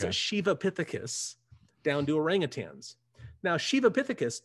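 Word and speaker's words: Sivapithecus: line between shivapithecus now it's spelled s-i-v-a but in in the sanskrit it's pronounced more of an sh so it's a shivapithecus down to orangutans now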